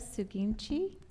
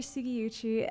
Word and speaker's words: Sugiuchi: Suginchi. Did I say it correctly? Close. Okay. Yeah. Hi, I'm Sugiuchi, and I'm a former